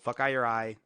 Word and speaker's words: fokaiureye: So Fuckeye Your Eye, that is how you pronounce it.